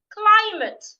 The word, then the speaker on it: climate: So the first word that I have here is climate. Climate has two syllables and it's a noun. So I'm stressing the first syllable.